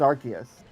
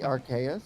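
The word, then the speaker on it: Arceus: Or I think it's Archus like an archon. That's how I What about Archa? Maybe Archus could be Archus.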